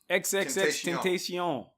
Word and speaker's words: XXXTentacion: XXXTentacion. Okay. Oh, that's how you pronounce it.